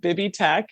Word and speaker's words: Bibby Tech: So tell us a little bit about this Bibitech. Is that how you say it? Yeah, it's called Bibby Tech.